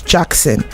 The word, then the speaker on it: JVXN: Yeah, so JV X and N, that's Jackson.